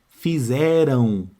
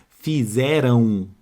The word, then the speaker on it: fizeram: estamos estudando fonologia fizeram fizeram este M aqui ó ele tem som de u fala a palavra para você ver ó fizeram então aqui ó aquele